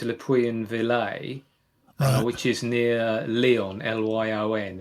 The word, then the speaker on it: Le Puy-en-Velay: I started in a place called, you might have to excuse my French pronunciation, but I think it's Le Puy-en-Velay, which is near Lyon, Lyon, and it's sort of south east France.